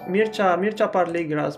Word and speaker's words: Mircea Parligras: Okay, usually in English I pronounce it Mircea Parligras, but in Romanian it's different, and I'm going to tell you how I'm pronouncing it in Romanian.